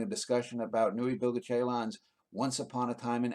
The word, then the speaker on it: Ceylan: I think the pronunciation of it should be Ceylan.